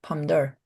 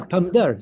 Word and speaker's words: pamdar: Yeah, we say pamder. Pamder. Yeah, pamdar. So it's not even pomidor. It's pamdar. Oh, I see.